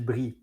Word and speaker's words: brie: So yeah, the brie blue, in fact, in French is brie, BRIE.